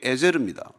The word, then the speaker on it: 에제르: 에셀로 이렇게 발음했지만 그게 에제르입니다. 그래서 히브리어를 보면은 에벤 하 에제르로 되어 있어요.